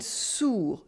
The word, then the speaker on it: sourd: Here you have the difference between sûr and sourd.